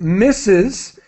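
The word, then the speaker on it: Mrs: it yes so it's it's pronounced misses and it's written like this I put it into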